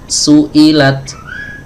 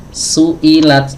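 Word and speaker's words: سُئِلَتْ: Suilat. Jadi samakan durasinya su i la sama semua ya. Jadi gak dibedakan.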